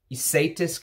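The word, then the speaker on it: Ysatis: from 84 let me know i have uh isaitis coming which is spelled y-s-a-t-i-s um and that was created by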